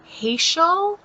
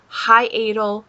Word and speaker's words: hiatal: that i have a hatial no that's not right hiatl that's how you say it hiatal hernia okay now most